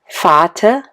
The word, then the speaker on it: Vater: In any case, you don't hear an r. The correct way to speak these words would be Vater, Mutter, Bruder, Schwester und ich.